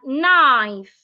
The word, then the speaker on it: knife: the P we have knife knife the K is silent of course you know